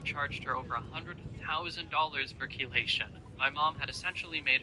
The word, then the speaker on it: chelation: Also, do not know what chelation is. I had to look up what that was. No, I had to look up how to say it. Why does word that starts with C-H-E sound like key?